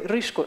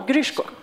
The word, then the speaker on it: Grishko: Marana tarish and Nikita sorry rishko no grishko is how you say yes it's pronounce now